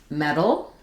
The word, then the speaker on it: metal: These are all pronounced the same way. So they all have the first syllable stressed and they have the e vowel like in red or met.